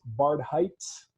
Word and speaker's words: Barhydt: really really good friend her name is Liz barred Heights I always have trouble with your last name Liz and it's because of my pronunciation she is a see I got it